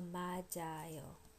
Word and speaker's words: 맞아요: But the present polite form is mat plus io, and this releases, because the vowel follows, it releases the consonant at the end of the syllable. So 맞아요, 맞아요, 맞아요, which means